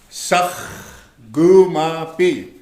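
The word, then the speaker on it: saahkomapi: S-A-A-H. You say sakh. Right here. Sakh. Gu. K-O is gu. Ma. Okay? And then the M-A is ma. The P-I is B. So if you spell it out, it'll look just like this. Of course, sakh. Remember the Garot song? Sakh. Gu. Ma. B. Now say it. Sakh. Gu ma pi.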